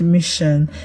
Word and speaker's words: mission: Um the word mission has s before s i o n. So the s is pronounced sh.